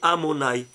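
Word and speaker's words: Adonaï: Il s'écrit Yudkevavke, mais il se lit Amonai.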